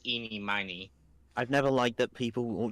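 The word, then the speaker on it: Ini Miney: eenie it's really weird Some people prefer pronounce it Eenie Meenie others say eenie miny it's basically a you know there's also there's there's also iy oh I didn't know iy I just thought it was yeah I could I can think of like seven different ways to pronounce that the correct pronunciation is eenie miny I've never liked that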